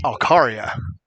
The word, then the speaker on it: Alcaria: We are pronouncing his name wrong. The announcer went over and spoke to his godfather in between innings and said it's Alcaria.